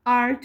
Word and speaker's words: heart: Porque naquele tempo, 1811, a pronúncia do H, no começo de algumas palavras não falava com esse som de tipo heart, falava só art. Então, por isso que falava anart. É como se fosse art, an artés de hero, a hero.